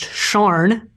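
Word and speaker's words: Siân: SIAN is pronounced Sharn.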